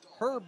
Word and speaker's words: herb: Herb butter. Herb. The H is silent.